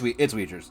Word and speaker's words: Uyghurs: Yeah, it's Uyghurs. I'm pretty sure that was the Okay. correct pronunciation. It was like a "w" sound. It's like Uyghurs.